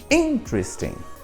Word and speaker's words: interesting: Então, a sílaba tônica é no sam. E daí, normalmente, o que acontece? Os alunos vão lá e vão fazer o quê? Vão passar a tentar colocar a mesma sílaba tônica. E não pode. Por quê? A sílaba tônica em inglês é o in.